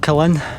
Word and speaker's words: Killin: wee village down here i think it's called killin but that's how you pronounce it so anyway folks i'm